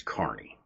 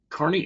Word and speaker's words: Kearney: So the first one is Kearney, Kearney, Nebraska. Its population is around 33,000 people. I've heard people pronounce it as Kearney because it is spelled Kearney.